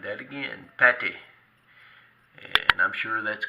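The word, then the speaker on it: Pathé: And this is the French company called Pate. I'm going to say that again, Pate.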